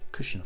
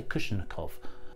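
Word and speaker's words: Ilya Kuvshinov: I can say his name. I got it. Kushinov. I always say Kushinikov.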